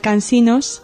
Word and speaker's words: Cansinos: allí, pues eh eh se dejó de pronunciar Cansinos y se pronunciaba Cansino.